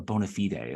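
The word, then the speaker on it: bona fide: end up actually giving them a raise a Bonafide offer or bonafed is how I'm told it's actually pronounced stage two is a little bit different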